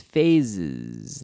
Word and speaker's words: phase: phase pH the pH remember in English the pH makes an F sound like phone phone pho any phone and here phase pH a se passe